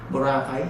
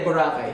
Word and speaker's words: Boracay: one of the tourist famous tourist destination there Boracay so medyo hard yung pronunciation k bor b bake borac ganon ka ba Ganon hindi hindi Boracay Boracay Boracay Ikaw nga ikaw Sabi mo wakay Ang